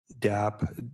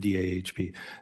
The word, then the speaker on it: DAHP: it's interesting how things are divided out, and DAP is how we pronounce it when we're going fast, but DAHP.